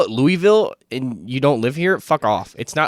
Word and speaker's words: Louisville: it's wrong incorrect yourself you gotta put some like throat into it it's Louisville it's Louisville no one says Louisville no my dad is